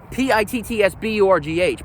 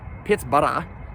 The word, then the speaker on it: Pittsburgh: going to call it Pittsburgh, we're going to call it Pittsburgh, just like Hamburg, Salzburg.